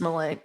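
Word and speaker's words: Milei: or Malay Malay Malay at least in Spanish it's Malay um Javier Malay so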